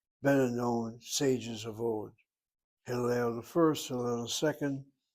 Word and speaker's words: Hillel: Accent is on the last syllable. Hillel. The word means to praise. Praise. It's also the name of some of the more important, better known sages of old. Hillel the First, Hillel the